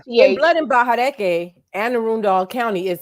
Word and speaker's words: Arundel: Well, you know, in Blood and Bahadeke, Anne Arundel County is spelled like my family says it. It's actually Anne Arundel, DEL, but my family always said Doll, DALL.